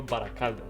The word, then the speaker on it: Baracaldo: So you go ahead and tell us your name, how it's supposed to be pronounced. Okay, Baracaldo. There we go. You said Perfect. it right. You said it right.